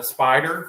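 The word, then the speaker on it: Spyder: jacket snowboarding jacket uh Spider if you're familiar with though with that brand s-p-y-d-e-r I think spider let me just spell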